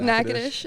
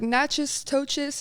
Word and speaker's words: Natchitoches: That's where it is, Natchitoches. Wow. Another mispronounced, like, city. There's no way I could ever spell that, and I've lived here for 15 years. Yeah, everyone's like Natchez, Toches, Natchez, whatever.